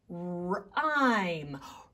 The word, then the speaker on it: rhyme: It's an R with an H. Hey, there's that H again. But it didn't change the R sound, but the H is very quiet.